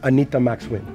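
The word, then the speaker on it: Anita Max Wynn: I'm Anita Max Win.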